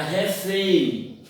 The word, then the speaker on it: refém: Como, por exemplo, na palavra refém. Observe que a sílaba tônica ou a mais forte é fém, é a última, então é oxítona.